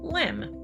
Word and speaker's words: LEM: Eventually, the word excursion was dropped from the acronym, but everyone still pronounced it the same, LEM.